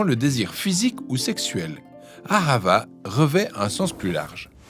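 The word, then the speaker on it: אהבה: On le prononce ahava.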